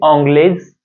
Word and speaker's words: anglaise: Otherwise, you can say, if it is a feminine gender, you should add extra e and pronounce it like tu es anglaise, tu es anglaise.